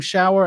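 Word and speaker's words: Schauer: golden shower on instagram but shower is spelled like uh the name shower s-c-h-a-u-e-r let me put that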